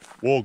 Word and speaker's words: Waa: uh Mill bulla water holes and wow Gorge War Gorge apparently it's pronounced so anyway get our walking shoes on